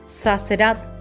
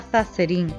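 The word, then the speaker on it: Sazerat: Madame Zazerat, durante más de 25 años François se refirió a ella como señora Zazerin, a pesar de escuchar recurrentemente la correcta pronunciación del nombre.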